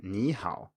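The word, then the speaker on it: 你好: But when it's in front of another third tone, i.e. another dipping tone, it turns into a rising tone. For example, as in ni hao, we go up.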